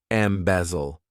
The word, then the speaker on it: embezzle: To embezzle, this verb has 3 syllables, and the stress is on that second syllable. Embezzle.